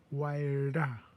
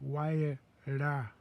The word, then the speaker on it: Waila: I said, "You're saying it wrong." I said, Waila. So I taught her how to say r. So it's Waila.